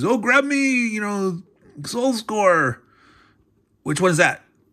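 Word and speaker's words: Soult: I was mispronounce that it's not salt but so Soul uh D morat the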